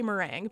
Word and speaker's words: Merengue: I've heard that her name is said Merengue, but since she's not my favorite villager, I don't think it's my duty to know that 100%. I'm gonna say meringue because that's how the dessert is pronounced, even though this is spelled like the dance.